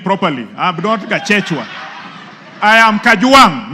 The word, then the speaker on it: Kajwang: Speaker first of all first first of all pronounce my name properly I'm Nota I am Kang not Kang number two Mr Speaker this is a problem